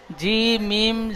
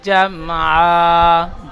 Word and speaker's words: جمعا: জি মিম জাবার জাম, এখানে জাম বলে টান দেবেন না। ফাওয়াসাতনা বিহি জামআ, জামআ বলেন।